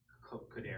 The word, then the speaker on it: Cordero: Is Aro, and it's pronounced Cordero. Both are pronounced Cordero.